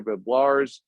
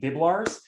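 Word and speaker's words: Biblarz: It's a bit of a hard name to pronounce, and I used to joke with my grandfather that they fled Poland and it used to be Biblarski, and it's the only time they Americanized the last name and they made it more difficult to pronounce. So it's just 2 syllables, just like it looks.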